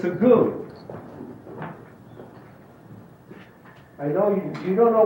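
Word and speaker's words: Gu: And the goo is spelled G-U.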